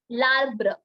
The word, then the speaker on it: l'arbre: So it becomes labre. Okay. Yes. L'arbre. The pronunciation becomes a one whole word. Earlier, we were pronouncing two different words, which is livre, right? But Mhm. now, since it's one word, you have to pronounce it as l'arbre.